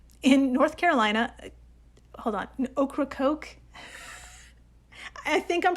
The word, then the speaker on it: Ocracoke: Hold on, Ocracoke? I think I'm pronouncing that right. Is it a combination of okra and a soft drink?